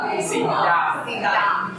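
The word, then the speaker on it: สีดำ: ส ี ด ำ ส ี ด ำ ไ ว ้ ส ี ข า ว yes Why are there so many cows?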